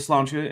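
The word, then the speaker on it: sláinte: nice um and yeah I'm going with slancha and not the actual Irish pronunciation because um I don't know how to falize all of those sounds effectively so I'm not gonna try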